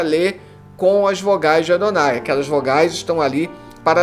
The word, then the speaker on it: Adonai: se refere como tetragrama então o tetragrama sagrado ele é pronunciado pelos judeus Como Adonai ou Senhor por isso que nossas